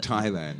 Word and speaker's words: Thailand: I guess it's something to do with the Thai language. Yeah, because really. the Thai comes from the Thai language, and we should not pronounce it as an English word. That's right. Yeah. And we put the H in there just to somebody has to confuse us.